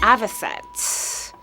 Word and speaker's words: avocet: Akasha Lapwing a vest opposites opposite oystercatcher Lapwing Avocet is the correct pronunciation three birds with three unique looks but which one blue steel their way onto the RSPB logo the official avian advocate here is the Avocet that's the bird we're talking about 900 off